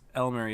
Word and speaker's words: Elmery: But Lightronics, the captain, 707, the caller, and Elmery, or 4LMERI, but I believe it's Elmery is how it's pronounced on the EU server because this is an EU player.